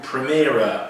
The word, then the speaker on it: Premera: was from another U.S Healthcare Company there called premiera p-i-e-m-e-i-action that's how it's pronounced and uh comes what about six seven